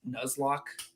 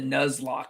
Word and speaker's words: Nuzlocke: Nuzlocke. Yes, the nuzlock. The nuzlock. It's very close to headlock, but it's a nuzlock.